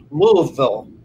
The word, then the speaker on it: Louisville: oh instead of louisville you have to pretend you're brushing your teeth and go louisville right louisville yeah are you from